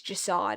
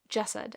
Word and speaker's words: Jasad: I said, it's Jasad, is it not? The Jasad Heir. I really thought that's what it was. But then the audiobook narrator pronounces it Jasad.